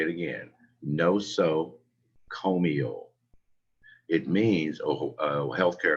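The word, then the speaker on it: nosocomial: important of all of these the word is pronounced no so comio they say it again no so comio it means a health care acquired infection this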